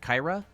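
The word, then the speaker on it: Kyhra: Kyra.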